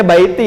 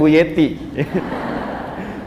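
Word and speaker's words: بيتي: Ya, bacanya baiti ya, bukan buyeti.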